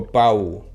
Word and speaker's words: Pau: I wasn't sure if it was like Pau or Pau. It sounds like Pau.